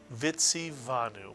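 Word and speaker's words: וְצִוָּנוּ: Second syllable, va. Not u-a. An u cannot have a vowel of its own. It must be a vav, the consonant v, va. And the third syllable, nu, mitsuyan. Put the word together and you get vitsivanu, mitsuyan, vitsivanu.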